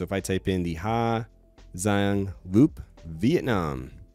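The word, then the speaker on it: Hà Giang: Ha Giang Loop Vietnam, I know there's a G, it's pronounced Ha Giang or Hai Yang, whatever. If you're Hai Yang, if you're in the south, Hai Giang, if you're in the north.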